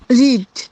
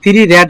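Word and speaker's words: read: রিড। রিড। আচ্ছা। আমি পড়েছিলাম আমি পড়েছিলাম বানান কিন্তু সেম কিন্তু উচ্চারণ পার্থক্য আছে বিটুবি রেড হবে রিড হবে না ঠিক আছেড তাহলে বল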